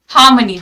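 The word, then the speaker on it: harmony: हार्मनी, ध्यान दो pronunciation पे, प्रोनाउंसिएशन पे ध्यान देंगे सभी लोग। हार्मनी, इट्स नॉट हार्मनी, आर is silent here, हार्मनी, ठीक है, इट्स नॉट हार्मनी, इट्स हार्मनी। Clear, हार्मनी।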